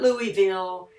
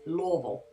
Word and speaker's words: Louisville: tell a true Kentuckian by the way we pronounce Louisville it's not Louisville it's not Lewisville it's Louisville for history lovers the building style is early